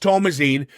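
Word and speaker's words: Thomasin: joy as uh tomine Tomas is how it's pronounced it's actually not called Thomasson it's tomasine Tomas get it right get it is it well yes well no it's tomine well actually it's pronounced tomazine which is the female equivalent of Thomas yes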